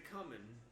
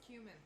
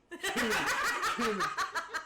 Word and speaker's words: cumin: okay, now is it the dickin' or is it the coming? It's a Both. little common. Well, I mean, I guess the dickin's causing the coming, but I think it's more that. It's pronounced cumin. Cumin.